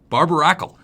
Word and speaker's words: Barbaracle: lied to I'm pretty sure that is a barbaracle that's how you pronounced it there is a barber Akal so